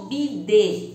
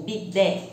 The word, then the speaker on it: bidé: O bidê, ou bidé, como se fala aqui.